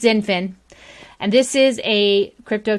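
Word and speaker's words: XinFin: is the XDC token, which is, I believe, pronounced Zinfin. I never know how to pronounce words that start with X other than X-ray. So I think it's Zinfin.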